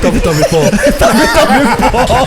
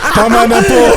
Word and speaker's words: tama na po: And then he's like, Tommy Paul. Am I saying it right? Tama na po.